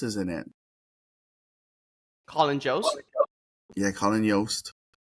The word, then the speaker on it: Jost: to the Moon, Colin Yost is in it. Colin Jost? Yeah, Colin Yost. I think Jost? that J is silent, but then J is Yost, so Jost, Colin Jost, Yeah, the wife.